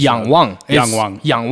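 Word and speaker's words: Yangwang: a u9 how do I what's the proper pronunciation Yang Wang Yang Wang Yang W basically means to look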